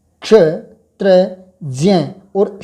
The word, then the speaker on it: ज्ञ: क्ष त्र ज्ञ बोला जाता है मुख शुक के कारण, लेकिन ये वास्तव में इसका उच्चारण ज्ञ है।